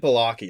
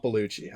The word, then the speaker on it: Balaki: It's David Balaki. It's not Bellucci. I always said it wrong.